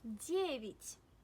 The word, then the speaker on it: девять: For example, in the word девять. Девять. Where does the stress fall? Девять. Девять. Девять means 9. Девять. Yes, the stress falls on Ye.